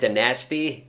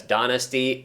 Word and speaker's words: Danasty: And I know in the game they pronounce his last name as DaNasty. I refuse to pronounce it that way though.